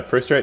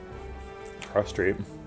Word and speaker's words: prostrate: I pronounced it Pro Strat. Now you can't tell what I'm talking about because I just said the word twice. Yeah, I think a reasonable speaker of English who has never encountered the word prostrate could pronounce that word prostrat.